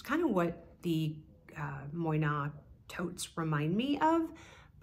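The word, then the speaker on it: Moynat: people know about is moyna spelled m-o-y-n-a-t and I believe that I am pronouncing it correctly if I'm not please correct me in the comments below but I think it is moyna and they have a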